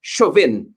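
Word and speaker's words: Chauvin: um and the deic I think the surname is pronounced shuin um that verdict that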